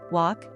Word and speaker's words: walk: Walk has a silent L, and the vowel sound, O, is similar to the one in law.